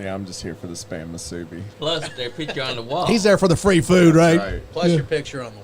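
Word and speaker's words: Spam musubi: Spam Masubi.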